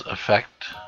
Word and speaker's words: effect: of the accent or the stress, over the first syllable. So this is effect, right? So effect, and then this one is affect. So it's a little bit different stress, at least in American pronunciation.